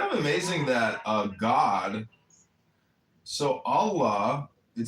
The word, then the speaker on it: Allah: The God in Arabic will be Allah, pronounced Allah, or Allah, which is simply God with a capital G.